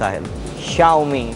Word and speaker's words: Xiaomi: friended on Twitter and it's pronounced like house xiaomi it's pronounced as xiaomi written with an X they